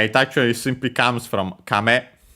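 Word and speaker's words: 亀: I think this one may actually be accent on the first syllable. We'll check and I think we have seen it before at least once in the previous okay accent on the first syllable. So kame high low and then it simply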